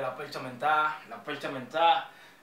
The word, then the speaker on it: La Percha Mentá: La percha menta. Con acento en la A.